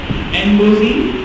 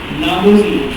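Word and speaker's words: Ngozi Okonjo-Iweala: एनगोजी, नागोजी, नागोजी नहीं एनगोजी है, उसको एन बोलेंगे, ना नहीं बोलेंगे।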